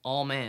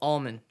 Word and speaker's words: Allman: mckin no all all man all man don't go all man how do you say it well almond almond okay and I'd